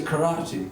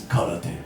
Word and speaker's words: karate: You live in Japan, you should pronounce it the Japanese way, which is karate.